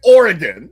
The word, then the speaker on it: Oregon: Did you just Google how to pronounce Oregon? I just I'm just It's Oregon.